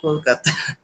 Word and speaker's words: Kolkata: Actually, Ah, Britishers pronounce it like Calcutta, and we Indians say it Kolkata.